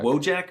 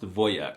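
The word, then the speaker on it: wojak: The wjack meme and the word are Polish, but it's actually pronounced voyek, which is the most alphasavic masculine thing I've heard all month.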